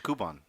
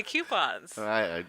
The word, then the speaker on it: coupon: I go and I redeem my coupons. It's coupons. No, it's coupons. Well, how do you say chicken? Coop. There you go, coupon.